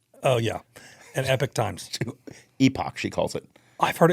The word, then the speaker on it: Epoch: Newsmax only oan oh yeah and Epic Times Epoch she calls it I've heard it called that too no I actually she have you read the epoch times I go I I let's find out